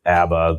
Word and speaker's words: ABBA: don't know if everybody's familiar with ABBA, the acronym. We're not talking about the band, obviously. We're talking about the Air Barrier Association of America. Pronounced the same way.